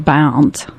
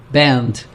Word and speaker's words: Bernd: Bernd actually pronounces his name Bound. Band.